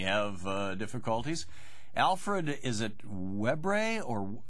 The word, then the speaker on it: Webre: Alfred, is it Webre, or how do you pronounce it? Weber. Weber. I'm sorry, it's mistyped here. Alfred Weber is with us. No, that's a Louisiana French name.